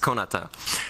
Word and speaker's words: Konata: named my account, I intended it to be pronounced Konata, and I think for like a whole year only one person pronounced it right.